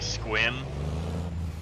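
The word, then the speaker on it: Sequim: and like I understand it's kind of like squim it's just how it's said but you look at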